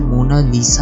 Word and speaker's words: Mona Lisa: कोई इसे मोनालिसा कहता है, कोई मोनालिसा कहता है, लेकिन इटालियन में करेक्ट प्रोनाउंसिएशन मोनालिसा है।